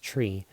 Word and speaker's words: tri: is coming from aldehyde tri which is in this case pronounced tree is going to come